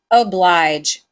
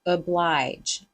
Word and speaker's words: oblige: This word is pronounced with the schwa sound. Oblige, oblige. Google actually says that it's supposed to be pronounced with the O. Google is lying to you, but do you